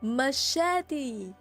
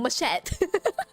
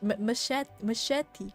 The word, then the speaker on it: machete: I cannot English oh machete you know how I've been pronouncing this thing all this while I I've been calling this thing machette machette Mach machete machete English the story